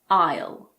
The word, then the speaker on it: isle: Some of the most common ones are aisle, bourgeois, debris, island, and aisle. Yes, the first word and the last word are pronounced the same. They're homophones.